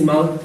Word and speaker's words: Himal: proud of hey guys my name is Ahmad like the Himalayas I've been seeing this